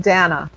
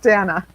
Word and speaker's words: Dana: my name is pronounced dana my dad my dad wanted a boy he called me dan so dana thank you i'm sorry